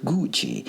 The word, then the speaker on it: Gucci: __ ] my dear that is pronounced gucci that's how you say it a woman had